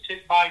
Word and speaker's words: Ticbite: Yeah, I'm also, my personal page is Tick Bite NC. Tick Bite NC. There's no K in Tick Bite. That's just the way it's spelled.